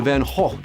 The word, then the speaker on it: Van Gogh: The Louvre, MoMA, or the Van Gogh Museum? Yeah, that's right, I'm saying the proper Dutch pronunciation, Van Gogh.